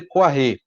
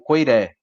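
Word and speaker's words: Koyré: ele menciona é o Alexandre Koiré, ou Koiré, depende aí da pronúncia que vocês preferirem. Ele é um autor de origem russa que passou maior parte da vida na França, então essa pronúncia afrancesada é bem comum também.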